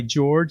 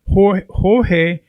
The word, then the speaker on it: George: bit of my background, obviously I go by George, and it's George. But throughout my life, my name has been mispronounced repeatedly. So it's gone from Jorge, George, and you name it, it's been slaughtered throughout my career.